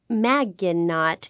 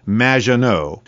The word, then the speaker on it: Maginot: Claude Maginot, welcome to the show. Thanks, Amy. However, you have mispronounced my name. It's Madge, which rhymes with badge. As in duh, and no as in more than you. Maginot.